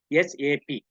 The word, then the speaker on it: SAP: called sap sap sap we have to pronounce sap okay do not make it single word okay this is for yes AP okay sap basis the